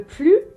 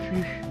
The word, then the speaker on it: plus: suite notre délicieuse recette qu'en l'adverbe plus un sens négatif c'est-à-dire qu'il exprime une négation on ne prononce pas le s le s est mué par exemple carole